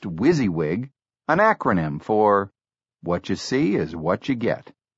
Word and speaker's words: WYSIWYG: WYSIWYG, pronounced WYSIWYG, an acronym for "What you see is what you get."